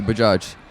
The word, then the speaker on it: Bajaj: It's actually Bajaj. Like, not so much stress on the first A. Actually, the second A. Bajaj. No, it's like Bajaj.